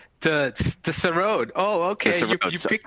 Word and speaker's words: Sarod: Tell us about your instrument, your passion for the how do I pronounce it? The Seder? The Sarod.